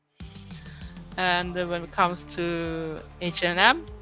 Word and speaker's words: H&M: And when it comes to H&M, it's not H&M, it's a Swedish company too. It's H&M, or in the longer term, like the original was before they did it shorter, is Hennes & Mauritz.